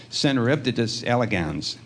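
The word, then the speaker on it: Caenorhabditis elegans: for is teaching me how to pronounce cenibdus elegans. Uh I looked at it before and I couldn't figure out and maybe I didn't even say it right this time.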